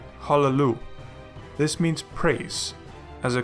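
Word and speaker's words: הַלְלוּ: In this case we have two lamets in a row, with a Shewa under the first of those. It is therefore vocal, and we pronounce it as Hallelu.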